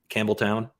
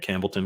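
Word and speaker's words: Campbeltown: think are good um one that we mispronounced the entire time we were in Scotland was uh Campbelltown we kept calling it Campbellton because we thought there's no way it's as easy as just saying it straightforward as it's spelled it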